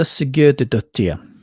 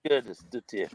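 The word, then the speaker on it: Sigurðardóttir: Ursa Sigurdardottir is how I pronounce it. Sigurdardottir.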